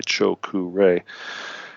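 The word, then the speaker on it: Cho Ku Rei: which is called The chokure Cho and this is three words it's not one words but it's uh first word Cho second word k u and the third word REI choku Ray uh write that down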